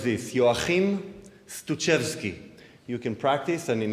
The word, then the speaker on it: Stutschewsky: So it goes like this: Joachim Stutschewsky. You can practice, and in intermission, if you see me, I'll say it one more time. Trust me, it's not easy. I never gave a CD out. Joachim Stutschewsky.